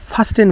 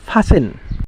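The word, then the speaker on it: fasten: আচ্ছা, অনেকেই ফাসেন রে ফাস্টেন বলে, কিন্তু এটার উচ্চারণ ফাস্টেন হবে না, শুদ্ধ উচ্চারণটা হবে কি ফাসেন।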